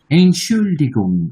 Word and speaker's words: Entschuldigung: এনশুল্ডিগুং, এটা একটু জটিল আছে, হ্যাঁ এই উচ্চারণটা।